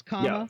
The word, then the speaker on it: Kamala: It's comma, like a comma. Kamala. Kamala. Yeah, it's Kamala.